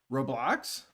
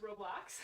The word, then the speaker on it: Roblox: that in the roblox roblox how you say it it sounds like roadblocks roblox roblox uh i'm stuck